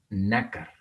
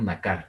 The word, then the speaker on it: nácar: Nácar. No decimos nácar, decimos nácar.